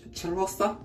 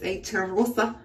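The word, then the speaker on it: Cheirosa: And this is pistachio and salted caramel Brazilian crush charosa. I don't know how to say the name. C-H-E-I-R-O-S-A, charosa. I know you're supposed to roll the R's.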